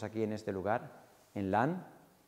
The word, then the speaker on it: Lasne: Y este encuentro que tuvimos aquí en este lugar, en LAN, que se escribe LASNE, puede ser un campamento que marque un antes y un después en vuestra vida.